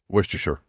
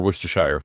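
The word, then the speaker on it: Worcestershire: Worstershure or worershire depending on how you want to say it. Yeah. But in Swedish it's worer sauce. Huh. In English it's worester sauce. No, it's not worester sauce. It's worshshire. There's a shire in there somewhere. I'm pretty sure it's worshshire.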